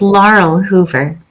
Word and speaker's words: Laurel Hoover: It's Laurel Hoover. Right. Okay. You got to roll your Rs.